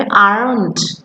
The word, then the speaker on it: aren't: are not টাকে আমরা সংক্ষেপে যেভাবে লিখি সেটা হচ্ছে অ্যাপোস্ট্রফি আর অ্যান অ্যাপোস্ট্রফি টি, যেটার উচ্চারণ হবে aren't, aren't I রূপা।